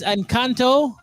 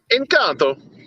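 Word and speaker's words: Encanto: oh what is it encounter it's not italian it's it's spanish i believe um and um the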